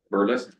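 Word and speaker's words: Berlis: appointment of Aird and Bearless, is that how you pronounce it? Correct. Bearless LLP as the Integrity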